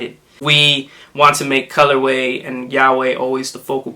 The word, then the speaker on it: Colorweh: Now, way, of course, is the way we spell it. Well, there's the way Colorweh, which is the word of the combination of the sneaker. But then way, we spelled it like Yahweh, which is Yahweh